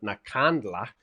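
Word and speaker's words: Nkandla: I mean, they even had a a van set on fire and some process outside of Nakandla.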